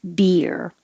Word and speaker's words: beer: to a low position to curl back for the r is what creates an invisible y beer it's not exactly totally